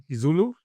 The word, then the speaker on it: IsiZulu: IsiZulu?